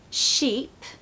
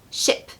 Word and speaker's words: sheep: of these minimal pairs when we have a long vowel like double e we really need to make sure that we elongate our voice on that particular part of the word okay you must do that because if you don't it's going to sound like the other word so sheep ship the